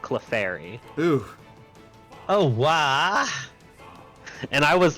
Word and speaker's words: Clefairy: He said Clefery said what? Clefery instead of Clefairy.